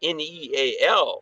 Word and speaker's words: Neal: That might have been just luck that my name, is Neal. It's spelled differently, but it sounds the same.